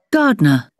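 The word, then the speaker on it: gardener: Gardner. Gardner. 2. Gardner. Gardner. Ini ya cara bacanya. R-nya gak dibaca berarti ya. Gardner. Gardner. R yang belakang pun gak dibaca. Iya.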